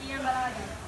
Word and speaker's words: Guillem Balague: You can pronounce his name as well. Who starts? Who Just a starts? little start. It's Guillem Balague.